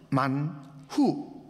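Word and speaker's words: מָן הוּא: 히브리어 그 원음은요, 만후. 무엇이냐? 후, 이것이 무엇이냐? 근데 우리가 쓰는 이 만나는 아람어 헬라어로 그렇게 발음하는 것이에요.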